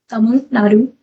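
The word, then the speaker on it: Tamil Nadu: Um pronounced Tamadu. Tamun Nadu.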